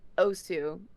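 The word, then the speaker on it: osu!: mispronounced Osu, dude. It's literally how the announcer says it. It's literally Osu, and you're wrong.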